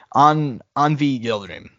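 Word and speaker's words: Avni Yıldırım: Turkey by the name of how do you pronounce his name? Anvi Yildirim.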